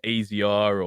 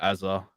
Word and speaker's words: Azr: Chad's obviously voiced in the past like he prefers if people call me Azza. Like it's pronounced Azza, and this it's obviously a nickname for. Hmm. So, but when you hear AZR or Azure or I don't know, it's like Yeah.